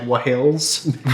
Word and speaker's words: Whills: the Journal of the Wills, which is spelled Whills, like Wahills, basically.